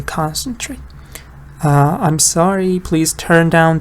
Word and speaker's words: concentrate: For example, concentrate is a verb, but the stress is on the first part, right? So you say concentrate.